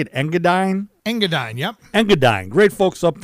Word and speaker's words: Engadine: Engadine, yep.